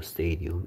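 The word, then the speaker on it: stadium: 스테디움. A가 여같이 A 발음되고 있습니다. 에, 이 발음 기호. 이거는 알파벳이면 E지만 발음 기호로는 에 소리고요. 얘는 알파벳은 I지만 발음 기호로는 E 소리입니다.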